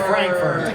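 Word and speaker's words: Frankfort: It's pronounced Frankfurt.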